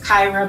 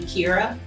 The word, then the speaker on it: Kyrah: name correctly because given my name is kyrah but most people always call me kira so i am very